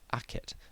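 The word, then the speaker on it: akhet: This glyph which shows the sun setting between two mounds is pronounced aket and is the log for the word horizon.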